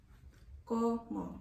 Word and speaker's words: cómo: Como. It's C-O-M-O. It's spelled, the C is pronounced how you would pronounce the C in cooking or cleaning. Como.